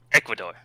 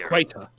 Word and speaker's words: Ecuador: or what's the name sorry ecuador ecuador there you go i pronounced this equator yeah equator yeah that